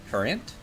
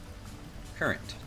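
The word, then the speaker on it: currant: fun one to do I believe it's pronounced like a river current is an ENT current current okay interesting good to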